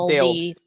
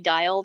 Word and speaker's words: DEILD: How do you pronounce that? DEILD. Daled. Yeah, That's how I call it. Daled. My screen reader and I yeah, get along there. Yeah. dialed. That's confusing because it's not actually dialed.